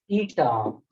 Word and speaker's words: eta: It's pronounced as eta.